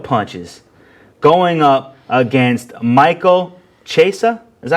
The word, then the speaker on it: Chiesa: And that's Diego Sanchez, the king of punches, going up against Michael Chiesa. Is that how you say his name? Chiesa.